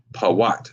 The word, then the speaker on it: Put: that's the p uh Watt Pat is how you pronounce it the paat but that's